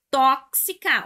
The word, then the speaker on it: tóxica: surpreendente efetivo da positividade tóxica na saúde mental não é o gabarito porque tóxica olha lá última penúltima antepenúltima tóxica foi acentuada por ser uma proparoxítona antepenúltima sílaba mais forte todas as proparoxítonas aquelas